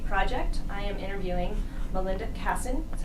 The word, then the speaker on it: Kassen: I am interviewing Melinda Kassen. That's how you pronounce it?